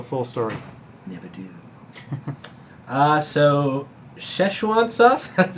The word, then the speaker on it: Szechuan: So Szechuan sauce, that's how you say it.